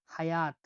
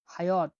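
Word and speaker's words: hayot: এইচ উচ্চারণ হয়ে থাকে হয়ের মতো, আমরা উদাহরণ দেখছি এইচ দিয়ে, হায়াত। হায়ত। হায়াত না, হায়াতটা হলো অ্যারাবিক, আর উজবেকে হায়াত বা জীবনকে বলা হয় হায়ত।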